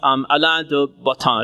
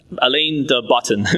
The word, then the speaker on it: Alain de Botton: So I recently read a book by somebody named Alain de Botton, if I pronounce his name correctly. Alain de Botton, B-O-T-T-O-N, Botton.